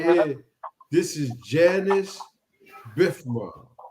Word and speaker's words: Janus: not J no no I thought it was JN too it's Janice it's for January it symbolized the month of but anyway you could pronounce it like that if you want it could be junis too so yeah I'm telling